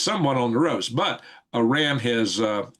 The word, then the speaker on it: Iran: But Iran has uh I call them Iran not Iran. Iran has their which is correct way to say it because that's the derivative of of Aryan by the way.